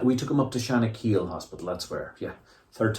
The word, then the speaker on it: Shanakiel: from there no not the bon secours it rhymes with panna panna shanak we took him up to shanakiel hospital that's where yeah third time lucky the